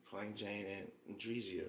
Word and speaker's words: Andrezia: It's pronounced ANDREZIA, but ANDREZIA.